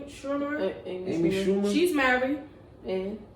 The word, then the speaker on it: Schumer: Schumer.